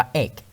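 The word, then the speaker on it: ache: รู้ ว่า เขา ว่า a c h e เนี่ย เนี้ย อ่าน ว่า เอก ไม่ ใช่ H นะ ครับ คัน นี้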